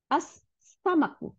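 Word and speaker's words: السمك: হ্যাঁ, আচ্ছা, তারপর সিন, সিনের বলে আস, এই যে লামটা উচ্চারণ, লামটা গিয়ে সিনকে দুইটা সিন বানাই দিছে, তাই না? আস সামাকু, মাছ, আস সামাকু।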